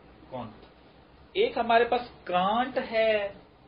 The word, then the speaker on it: کونت: ایک ہمارے پاس انہوں نے فارسی تلفظ اس کا یوں ہے اگست کونت.